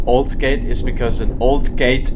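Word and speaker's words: Aldgate: The reason why alt gate is pronounced old gate is because an old gate is in this platform.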